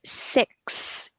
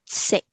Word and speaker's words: six: So you will, if you pronounce the word 6, make sure to put an S sound at the end, not sick. It's 6.